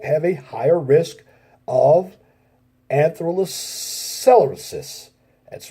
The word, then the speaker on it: atherosclerosis: People who smoke have a higher risk of atherosclerosis.